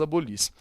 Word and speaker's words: abolis: Abolis, qual é a sílaba tônica? No lis, portanto, fora do radical.